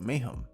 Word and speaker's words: Meyram: I mean in Portuguese the guy's name is literally pronounced mayhem I think which couldn't be any more accurate as it means chaos.